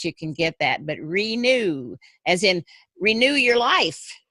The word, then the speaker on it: Renu: Okay, so it's Renew, Renu, because that's my name, and that's I use it as Renew as word.